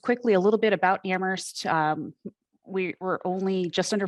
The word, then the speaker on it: Amherst: with our town before we do say amherst where only the h is silent we have an extremely